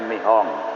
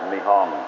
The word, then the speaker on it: Nihon: pemerintahan baru dari mihong Kalau tulisannya Nippon bacanya nih Om ya betul tulisannya itu Nippon tapi orang Jepang membaca nih Om ya Hai nah gerakan